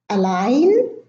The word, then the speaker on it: align: Now the following list has a silent G: align, assign, benign, design, resign, sign, foreign.